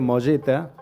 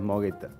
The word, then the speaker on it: Mogetta: Es el claro, el apellido es italiano, con lo cual sería molleta la pronunciación, pero nunca nunca sucedió. Entonces está criollizada ya la fonética. Es Mogueta. Pero si vos vas y te presentan un lugar, ¿cómo decís?